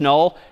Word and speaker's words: NUL: N UL pronounced null is just the null terminator back/z.